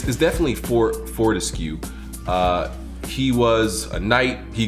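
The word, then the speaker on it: Fortesque: Sir Daniel, or I always pronounce his name, it's definitely Fortescue.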